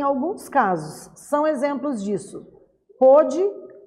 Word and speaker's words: pôde: Porém, na hora de pronunciar, o som fica diferente dependendo do acento diferencial que eu coloco.